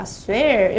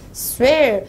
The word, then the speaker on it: swear: W는 입을 모았다가 가는 발음이죠.